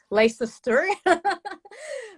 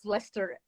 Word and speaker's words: Leicester: pronounce that word because i would say lisa's story but now i know it's lester and she's the author